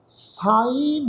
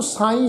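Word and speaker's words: ਸਾਈਂ: उत्थे शब्द है साईं उत्थे बिंदी लगी नहीं हुई पर असी लगा के प्रोनाउंस करांगे क्योंकि इस शब्द का जिहड़ा मीनिंग है वो साईं रब की गल आ। उत्थे पाठ इहदा साई नहीं पढ़िया जाएगा।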